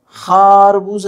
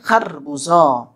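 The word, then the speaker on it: خربزه: کے ساتھ پڑھنا ہے۔ خورما نہیں کہہ سکتے، خیرس نہیں کہہ سکتے، ٹھیک ہے، خارگوش نہیں کہہ سکتے، خاربوزہ نہیں کہہ سکتے، بلکہ خربوزہ۔ تلفظ کی صحیح ادائیگی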